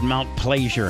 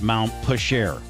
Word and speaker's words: Mount Pleasure: Neil, it's Mount Pleasure, not Mount Pusher. Pleasure. French.